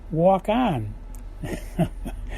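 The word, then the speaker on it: Waukon: Iowa called walk on it's spelled wau Kon walk on Iowa and she's playing walk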